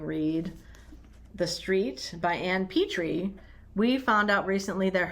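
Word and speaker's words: Petry: And then we do have a joint upcoming read, The Street by Ann Petrie. We found out recently that her last name is pronounced Petrie and not Petrie, by someone who knew her.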